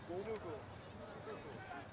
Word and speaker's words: Fugu: So he's a little bit of it on the Fugu. Get both hard U's, so Fu and Gu.